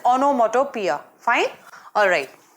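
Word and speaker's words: onomatopoeia: बी ओनोमैटो प्यार fine दो pronounce IT ऑनमेटोपोयिया because IT इस स्प्रेड लाइक दिस ठीक है नो आईटी इस गोइंग तू बी प्रोनाउंसड स ओनोमैटो प्यार फाइन और राइट दें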